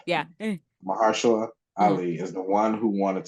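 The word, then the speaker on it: Mahershala Ali: like from I what I know Mar Mara Mara Shala Ali Mar was the one I said it wrong yeah mahara Ali is the one who wanted to make this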